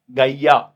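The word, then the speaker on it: Gaia: जो है होल का गैया गैया ठीक हैय इसको इस तरीके से प्रोनाउंस करते हैं जैसे गाय गाय की तरह गैया ठीक है तो आप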